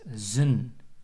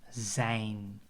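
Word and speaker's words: z'n: write the apostroph and we pronounce it as zun not Zain also and this is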